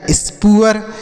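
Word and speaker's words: spoor: समझ में आ गया एस प डबल ओ आर तो एस पी से आधा स और प और डबल ओ के साथ आर है तो उ और अ लिखेंगे आर से र तो लिखा गया स् पुअर उसके बाद बी डबल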